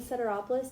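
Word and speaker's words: Sederopoulos: Ceteropoulos. Do you want me to spell it?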